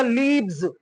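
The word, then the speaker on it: leaves: तो भैया एफ हटा दो, VES ऐड कर दो, तो इसका प्रोनाउंसिएशन होगा लीव्स।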